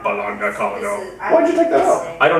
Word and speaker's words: Balog Nicole: Yeah, I actually decided to pronounce it Bologna Colony instead of Bologna That's how I just say it.